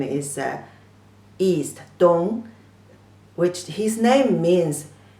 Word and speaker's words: 东: The pronunciation is 的 on, 东, the first tone.